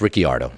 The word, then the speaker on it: Ricciardo: we have Daniel ricciardo Ricardo no it's ricciardo it's Ricky his actual last name is ricciardo but they pronounce everything they pronounce it Ricardo I mean what's this